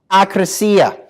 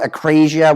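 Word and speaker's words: ἀκρασία: Another one you should be aware of and trying to avoid is akrasia. Sometimes it's pronounced acrasia. Well, that's heavily importing it into English.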